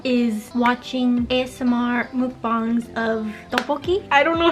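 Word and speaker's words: 떡볶이: my favorite thing is watching ASMR mukbangs of tteokbokki. I don't know how it's pronounced. I'm sorry. Tteokbokki?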